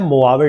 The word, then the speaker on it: Mojave: मोआवे, ये जे लगभग इसका यहाँ पर साइलेंट है, यहाँ पर अगर बात करें तो AH साइलेंट है, तो इसका नाम इसको प्रोनाउंस करा जाता है मोआवे डेजर्ट।